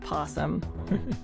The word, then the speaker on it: opossum: me because of the word possum which is spelled opossum and commonly said possum and i went down this whole rabbit hole of how is this supposed to be pronounced and there's a lot of discussion about it but i'm gonna go with possum if you guys want